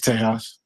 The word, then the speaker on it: Tejas: Is it Tejas or Yeah, how do you say it? it's Tejas. It's Tejas, homie.